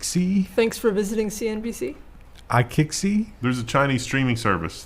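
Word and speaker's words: iQIYI: escape yeah yeah neat you know how to pronounce this no kick see thanks for visiting CNBC I kick see there's a Chinese streaming service that starts with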